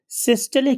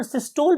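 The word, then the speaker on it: systole: कि इस particular ventricular सिस्टले की वजह से, अच्छा, बहुत से जो हमारे यहाँ के लोकल कन्वेंशनल लोग हैं वो इसे वेंट्रिकुलर सिस्टोल भी बोलते हैं, but actual pronunciation is ventricular सिस्टले।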